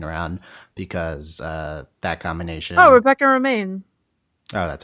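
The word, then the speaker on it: Rebecca Romijn: Oh, Rebecca Romaine. Oh, that's how you pronounce it?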